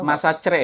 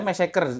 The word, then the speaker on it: massacre: Jonestown Massacre itu Masa cere ya? Masa cere. Tahu nggak artinya apa? Pembantaian. Yes. Massacre kan? Massacre, yes. Massacre dibacanya ya?